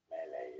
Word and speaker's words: melee: Melee emphasis on the first melee.